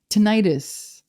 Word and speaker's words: tinnitus: nutrition it's it's mind-boggling tinnitus I mean or tinnitus however you want to pronounce that people got mad at